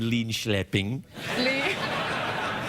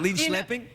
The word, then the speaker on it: Linköping: That's what they teach you, is how to pronounce names. Linköping. I learned a few things in Linköping. Is it Linköping?